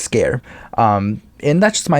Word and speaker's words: Sker: uh made of scare scare being s-k-e-r but basically that's how you say it just scare um and that's just